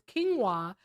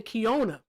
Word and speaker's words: quinoa: Quinoa. You used to say kinoa. I didn't even say that Like what did I used to say? I It's quinoa. I say ka.